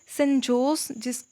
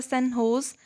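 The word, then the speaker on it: San Jose: अगर हम लोग बात करें रिसेंटली सेंट जोस जो है उसको प्रोनाउंस किया जाता है सेंट होस, ठीक है।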